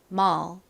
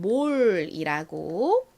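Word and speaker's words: mall: 소리가 나죠 받침으로 들어오죠 그래서 발음해 보면 머 머 요렇게 발음이나요 한국식으로는 몰이라고 쓰고 읽지만 실제 영어 발음은 머 요렇게 난다라는 거 기억해 주세요 자 발음을 따라해 볼까요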